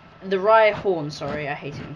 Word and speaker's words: Rhyhorn: It's the Rhydon. The Rhyhorn, sorry, I hate it when people pronounce them wrong, but I just did it.